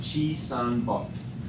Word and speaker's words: Chisanbop: It's Chisan-bok.